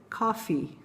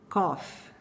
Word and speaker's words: coffee: O correto é dizer coffee, coffee. A maioria acaba lendo bastante, de uma forma bastante aportuguesada, vamos dizer assim, e pronuncia a seguinte coisa: cough, cough.